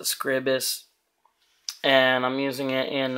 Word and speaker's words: Scribus: i'm using uh well some people call it scribus but i pronounce it scribus and i'm using it